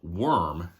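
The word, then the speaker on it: Wurm: There's a band called Worm, and it's spelled W-U-R-M.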